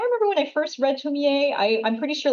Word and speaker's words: Tomie: So I apologize for butchering the pronunciation of the main character. It's Tomie. Yeah, Tomie.